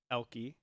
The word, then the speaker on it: Elke: to pronounce my name it's pronounced elky e-l-k-i-e uh it's spelled e-l-k-e that's why there's a a trip up there she says that's what